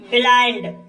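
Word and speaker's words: blind: दोस्तों इसका अगला नियम है, कुछ शब्दों में आई के बाद एन डी या एल डी हो तब आई का उच्चारण आ ई होता है। जैसे ब्लाइंड, ब्लाइंड शब्द में आई के बाद एन डी आया है, इसलिए आई का उच्चारण आ ई हुआ है, इसलिए इसे ब्लाइंड पढ़ते हैं।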